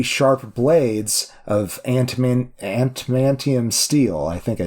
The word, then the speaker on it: adamantium: Adamantium. Thank you. And Ada. That's what I said. I thought you were putting a hard T in there. It's a D? It's a D, yeah.